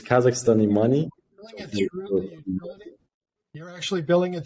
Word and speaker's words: Kazakhstan: Yeah, but it's Kazakhstan.